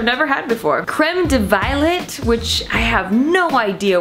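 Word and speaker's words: violette: It's not just violet, okay? It's violet. Get it correct.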